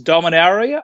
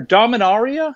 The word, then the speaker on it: Dominaria: Group C we have Azeroth versus dominaria or dominaria is that however you want it's open sounds okay uh Group